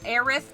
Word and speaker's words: Aerith: So different people grew up with different pronunciations, and there's been this silly argument ever since about which one is right. Whichever one you prefer is right.